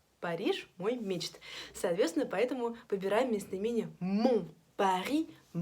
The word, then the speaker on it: Paris: По-французски Париж будет Paris, как Пари на крыльях.